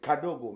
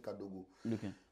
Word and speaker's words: kadogo: soldat kadogo ok d'accord pas kadogo c'est kadogo mais comme les Kinois ne savent pas bien prononcer et c'est comme ça c'est c'est resté cadogo mais sinon dans les